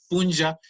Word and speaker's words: puncha: Entonces, lo que nosotros estamos aquí exponiendo, punja, es como lo decimos en Imbabura, aunque se escriba puncha.